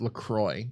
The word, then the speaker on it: LaCroix: I think they want it pronounced LaCroix, even though that's absolutely not what these words spell.